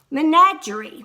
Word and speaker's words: menagerie: Menagerie, that's an odd word, but it's pronounced menagerie.